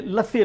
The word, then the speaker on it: lassi: laughter then you know what let's say is lassi l a s s i nilam can you pronounce in English it's an Indian yogurt drink